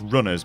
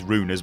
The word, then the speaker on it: Runers: a game called runers which I'm mistakenly initially pronounced as Runners but believe you me it is runers because the game well it's based around runes and stuff so what the hell